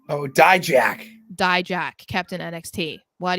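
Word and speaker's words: Dijak: how do you say his last name oh die Jack die Jack Captain NXT what he he's asking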